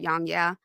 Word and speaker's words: YongYea: YongYea?